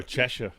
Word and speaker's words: Cheshire: Oh, Cheshire.